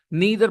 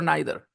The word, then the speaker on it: neither: Neither or neither? Alejandro and Noelia, how do you hear people pronounce this word? Neither or neither? Both. Neither. Both. Yeah, both are correct, by the way, guys. Neither and neither.